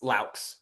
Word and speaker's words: Laux: Yeah, the last thing I'll say for Coach, is it Lux? Is that how you pronounce it? It's Laux. Laux, yeah.